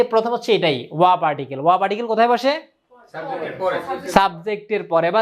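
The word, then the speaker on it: は: যে এটা লিখছে কি এখানে হা কিন্তু যেহেতু এখানে এটা পার্টিকেল হিসেবে আসছে এটা উচ্চারণ কি করব ওয়া এই যে ওয়া নামে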